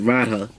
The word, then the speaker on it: Radha: Yeah, I said it right, Radha, who is known to be the consort of Krishna, of the Krishna avatar.